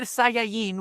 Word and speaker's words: Saiyan: So like we we we go Dragon Betta, we go Super Saiyan, which is the right way to say Saiyan in Spanish and in Japanese.